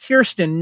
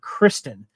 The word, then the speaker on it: Kirsten: interesting Chris K Kiren by the way it's pronounced Kiren not Kristen and I keep getting that wrong I double